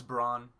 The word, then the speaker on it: Braun: In the dub, it's Braun. So Oh, I guess Braun then it is.